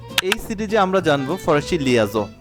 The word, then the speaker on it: les: এল এ লা লা এলই এস লে এক্ষেত্রে এস এর উচ্চারণ হবে না কারণ আমরা জানি ফরাসি ভাষ শেষের বর্ণটির উচ্চারিত হয় না বেশি সবসময় অলওয়েজ সো অল্প কিছু ক্ষেত্রে হচ্ছে ব্যতিক্রম থাকে সো ব্যতিক্রম বাদে বেশিরভাগ ক্ষেত্রেই সাধারণত হচ্ছে ফরাসি ভাষা শেষের বর্ণটি উচ্চারণ হয় না তো এলই এস এটা উচ্চারণ হবে লে লে দেন এলঅপস্টপ এগুলো